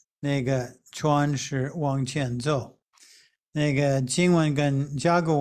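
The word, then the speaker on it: 舟: Zhou means a little boat. So this character is pronounced Zhou.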